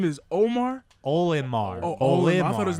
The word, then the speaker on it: Olimar: Omar, Omar. Captain Omar. Wait, Listen, hold on, check this out. His So name is Omar. Olimar.